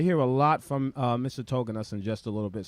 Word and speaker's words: Tauginas: Did I pronounce that correctly? Tauginas.